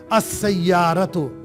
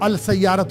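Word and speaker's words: السيارة: अकार असरत द कार देखिए scene के साथ जब लाम आता है तो वह साइलेंट हो जाता है। असयरत अल सयारत गलत हो जाएगा। अ सयारत द कार जवालुन अ mobile अल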